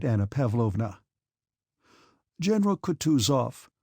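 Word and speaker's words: Kutuzov: said Anna pavlovna General katusov said bokonsky speaking French and stressing the last syllable of the general's name like a Frenchman has been pleased to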